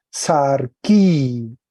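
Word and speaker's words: σαρκί: Y le agregamos una i final, en la iota, y se lee sarquí, sarquí. En el caso acusativo tiene la misma raíz, ahí le pongo rojito, ¿cierto?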